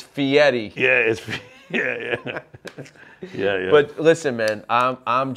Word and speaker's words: Fieri: Which, by the way, it's Fieri. Yes, it's Fee and then Eddie. Fee Eddie. Yes. But Fury.